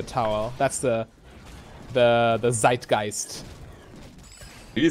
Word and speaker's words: Zeitgeist: word at this point i love how you try to pronounce it in an english way even though you perfectly know the german pronunciation for that i'm talking english so it's zeitgeist yeah okay you could say zeitgeist though ah that's german i'm calling the